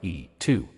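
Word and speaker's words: 이: Technically, in modern Korean, Lee is pronounced more like E2.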